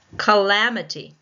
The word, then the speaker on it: calamity: Calamity. Calamity. Calamity. You can watch my mouth. Calamity. Calamity. Just by watching my mouth, you should have gotten that it was the second syllable.